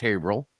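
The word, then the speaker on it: Haverhill: H Hill it's spelled h Hill but it's pronounced hail I know that because I've I lived there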